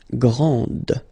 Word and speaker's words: grande: Okay, so grand, and then the feminine form, grande. Okay, so you put this E, and then you get the sound D, D, grande.